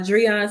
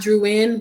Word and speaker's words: Driune: me on google uh jurian that's how you pronounce my name for those who may have been wondering how to pronounce it uh but not drew in which a lot of people like to pronounce it that way i see you guys like to switch to you and the eye around i don't know why but it's just not how you pronounce it yeah that's everybody like